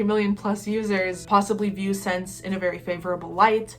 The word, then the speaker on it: Ssense: So Polyvore was bought up by the Canadian retailer Ssense. Yes, it's spelled like that. No, it makes no sense.